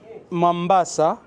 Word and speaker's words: Mombasa: a Rocky island wow no Mombasa is the right word m a n b a s a this is the right the right pronunciation of this island but the British yes